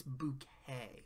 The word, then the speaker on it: Bucket: pronounce her last name it's not bucket it's bouquet of course hin fancies